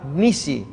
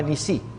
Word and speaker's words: Nisí: Y Moisés edificó un altar y llamó su nombre Jehová Nisi. Jehová es mi estandarte o Jehová Nisí es la pronunciación más correcta.